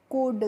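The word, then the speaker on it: could: तो इसको फ्रेंड्स हम पढ़ते हैं कुड। क्या पढ़ते हैं? कुड। यहां पे जो एल होती है, वह क्या होती है? साइलेंट होती है। यानी कि हमें एन एल का प्रोनाउंसिएशन उच्चारण नहीं करना होता है।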